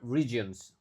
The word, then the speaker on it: regions: Models for other regions. Regions. Oke, E yang pertama dibaca I.